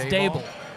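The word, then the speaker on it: Daboll: It's Dable. Dable. I thought it's Dball. It's Dable. Dable. It was Dball before the weight loss. Now it's Dable. It's never been dayball.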